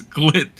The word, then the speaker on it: Glit: They even stated in their press release, Glit, pronounced as Glit, is inspired by glitter, and people are just clowning on them.